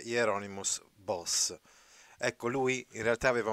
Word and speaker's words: Bosch: era nato a sertoren Bosch o sertoghen boss boss di detto all'olandese quindi Bosch la pronuncia tedesca e boss era pronuncia olandese quindi è nato in